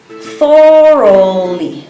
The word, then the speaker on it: thoroughly: This word is pronounced thoroughly. 3 syllables. So the TH is voiceless.